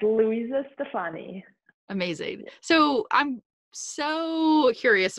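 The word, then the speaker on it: Luisa Stefani: Louisa? Yes. Stefani? Correct. Louisa Stefani.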